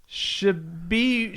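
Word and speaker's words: Tshiebwe: Oscar Shibwe. Just pronounce it like it's spelled.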